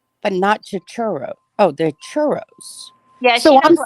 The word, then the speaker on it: churro: and ask for a chichiro and get them there oh extra syllable all right so the churro that doesn't sound right churros it is it's right i've heard